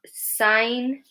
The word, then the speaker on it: sign: Okay, so all of these words have GN. GN. We don't pronounce the G. We don't say sign, or however you would say that. Okay, sign, align, design. We've got campaign, resign. Yeah, so we've got GN at the end, and the G is silent.